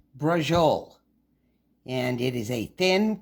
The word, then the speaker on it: Braciole: It's pronounced Brah-zhul, and it is a thin rolled steak with a stuffing in the middle, tied up and thrown in the gravy.